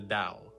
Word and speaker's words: Tao: A text called the Dao Ding spelled Tao Ding but it's pronounced the Dao, right?